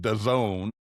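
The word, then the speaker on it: DAZN: Uh, Saturday games are going to what I'm told is pronounced Done. D- A ZN.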